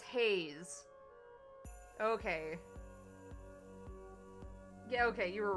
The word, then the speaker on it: Hayes: Uh the surname is pronounced with a long a sound like the word hey followed by the z sound at the end.